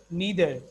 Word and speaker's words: neither: No, actually, both are the pronunciation acceptable as per the concept of British and American. So whatsoever you say, both the pronunciation are correct. Either, neither, either, neither. Both the pronunciations are absolutely correct.